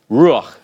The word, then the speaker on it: ruach: All right, and that thus the short A sound is called a patah furtive because it's hurried, ruach, ruach. Okay. It's not a full vowel and must not be regarded as increasing the number of syllables in a word.